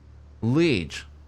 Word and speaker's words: liege: Liege. Okay, it's liege.